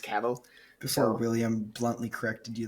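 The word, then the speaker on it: Cavill: when I have because I pronounced cavil for so long before knowing it was pronounced caval before William bluntly corrected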